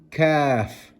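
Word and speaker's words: ك: Then you have the kaf, empty mouth. Kaf.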